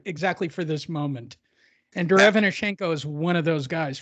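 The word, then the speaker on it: Derevyanchenko: Derevchenko.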